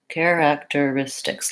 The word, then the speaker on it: characteristics: a little bit longer so what do we need to know here care even though it's spelled with ch just sounds the same as this word care care and then even though this is spelled like act I don't really say characteristics I said Kara character so that's a case where because this syllable is unstressed it's very short and it's basically just